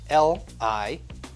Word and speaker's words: liable: Sidebar: in the original tweet, Trump spelled libel L-I-A-B-L-E, which, of course, shout out to the National Spelling Bee, is pronounced liable, which is totally fine, very normal, and very modern-day presidential.